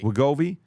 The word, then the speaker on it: Wegovy: drugs like Ozempic or Wegovy, how do you pronounce it? Wegovy? Am I saying it correctly? Yeah, Wegovy. Wegovy would sway their decision between two job offers.